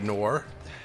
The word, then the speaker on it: Noore: Or Noore, as her name is pronounced.